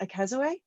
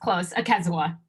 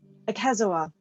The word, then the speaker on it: Akazoa: guest speaker and Akazoe. Yes, did I say it right then? No. Close. Akazoa. Akazoa. Yes. No A at the end. Akazoa.